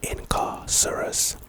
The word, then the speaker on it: Incarcerous: really good scene the next spell is incarcerous pronunciation incarcerous this is our second Jinx spell I believe